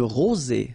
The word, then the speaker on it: rosée: Une rosée. Final E not pronounced.